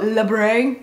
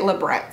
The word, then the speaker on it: labret: the tenant French and go libray not even sure that's French it just sounds fancy but apparently it's actually at labret so my apology is